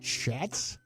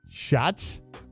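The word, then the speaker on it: Schatz: analyst Mike Clay Aaron is it chatz is it Aron sh shots shots but I mean hey Peach his own shots is how you say it yeah shots and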